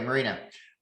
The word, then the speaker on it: Marina: conversation you're you're wise is it marina or i see your name on facebook and all but i didn't know how to pronounce it okay marina uh nice to meet you